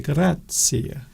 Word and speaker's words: grazie: We can say grazie. We've got to emphasise the first syllable. Grazie.